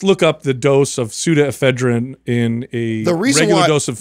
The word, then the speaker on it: pseudoephedrine: trying to get this so pseudoephedrine is spelled with the ps i'm saying yeah just look up